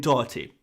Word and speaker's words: Doherty: The h sound in Doherty is not an easy sound to pronounce in an English accent. I accept that. It's not an easy sound to pronounce. So we're not going to, in any English accent, you're not going to say it right.